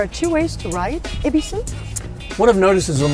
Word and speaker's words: Ebisu: So the name of the suburb itself is Ebisu. So you would pronounce that Ebisu. So if you were to be lost and you have a map in your hands that has Y-E-B-I-S-U, you would be saying, where is Ebisu? Not where is Yebisu.